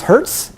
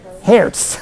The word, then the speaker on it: hertz: word that was our it was hertz our hairs okay which is how i believe the germans pronounce that okay so they probably wince when the americans say hertz but but i hadn't